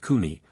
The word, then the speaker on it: kun: Each embryo can, and does divide into 6 to 9 individual, kun, pronounced kuni, i.e.